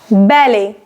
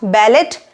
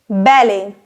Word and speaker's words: ballet: queue outside the bakery ballet not ballot ballet ballet it is a form